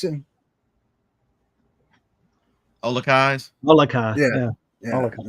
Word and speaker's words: Olakai: You guys know how to pronounce it? Olakais.